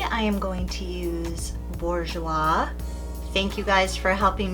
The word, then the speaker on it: Bourjois: Today I am going to use Bourjois.